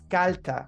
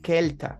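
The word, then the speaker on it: kälter: va a decir, oye, el umlaut no es kalta, es kelta. La umlaut se pronuncia como una E.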